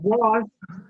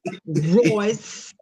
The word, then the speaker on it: Royce: they didn't talk about Ross. It's huh? Royce. Royce. I know what her name. I see how they going in at me the comments about mispronouncing Royce. It's Royce.